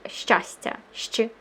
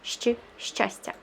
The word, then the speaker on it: щастя: The next letter looks almost exactly the same. It just has a little tail in the bottom. So it's pronounced like sh. The previous one was sh. This one is sh.